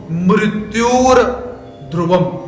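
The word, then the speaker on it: मृत्युर्ध्रुवम्: यदि आप यहां पर नहीं तोड़ना चाहते हो तो आप क्या बोल सकते हो, मृत्युर ध्रुवम, र का आधा उच्चारण आप कर सकते हो।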